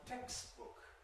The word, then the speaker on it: textbook: It's uh striking in words like textbook. Text voiceless book voice misprononunciation. Textbook textbook text correct pronunciation text.